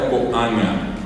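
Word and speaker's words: ko'ãga: Se escribe K o puso a con a con acento acento común. La g nasal, la g nasal y la a oral. Así sin acento en la A. La A común y corriente. Vuelvo a repetir. K o a con acento acento común. La g con acento nasal y la a común coanga. Coanga es nga.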